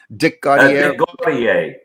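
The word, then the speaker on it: Dick Gautier: Was it Dick Gaudier who did? Was it that how you say it? Dick Gaudier. Dick Gaudier. Yes, that's right.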